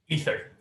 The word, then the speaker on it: Aether: the game Rivals of Aether. Am I pronouncing that? Rivals of Aether? Or is it Ether? Ether. Ether? Oh, yeah. Okay, that makes sense.